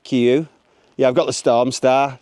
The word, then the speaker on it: KUIU: I've got the uh Q Stormstar. I think that's how you say it. Q.